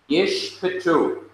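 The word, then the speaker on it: יִשְׁפְּטוּ: So it is yish. This is silent. The first one is silent, but the second one must be pronounced. Yish pitu.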